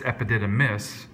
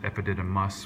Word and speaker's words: epididymis: Some of you knew the structure, it's epididymis, and sometimes we pronounce it epididymus, which gets us thinking a little bit differently about spelling.